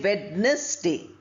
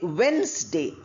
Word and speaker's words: Wednesday: Wednesday. We don't say wness day. We say Wednesday.